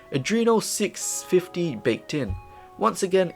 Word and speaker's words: Adreno: for the gpu it's got the arduino well why did i pronounce it like that adreno 650 baked in once